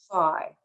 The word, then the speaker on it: phi: so what is phi sometimes pronounced fee but if you are aware that there are fraternities like phi beta kappa you know that usually it's pronounced phi so phi is an